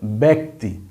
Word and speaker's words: ব্যক্তি: যুক্ত যদি কথা আসে তখন সেই জফলার উচ্চারণ হবে সরাসরি এর মত এ বাংলা যে এ থেকে কি হয় এ কার ওই এর মত উচ্চারণ হবে অর্থাৎ তখন এটাকে আমরা